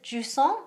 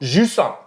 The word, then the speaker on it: Jusant: I believe it's Jusant. Jusant.